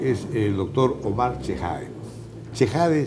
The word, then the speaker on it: Chehade: ¿Chejade se pronuncia? Sí.